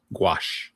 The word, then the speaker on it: gouache: This is Sanguine Desire, done with watercolor, graphite, ink, marker, acrylic, and you see, is that gouache? Is that how you pronounce that? Gouache. Gouache.